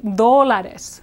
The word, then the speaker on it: dólares: So you want to say dólares, dólares, diez dólares.